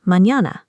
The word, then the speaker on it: mañana: The ñ has a tilde on top and makes a sound like the English n y. You hear it in common words like mañana.